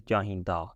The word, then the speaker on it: ਚਾਹੀਂਦਾ: So with masculine singular, we say chahinda. It's the da sound at the end, da, chahinda.